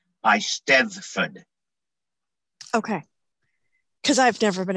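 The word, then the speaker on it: Eisteddfod: premier bardic competition pronounced a steadfan the double d is pronounced th hard th the single b at the end is pronounced d by stefan okay because i've never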